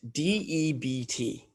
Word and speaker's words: debt: think about um debt d e b t debt is debt it sounds weird because there's like a silent b um debt right debt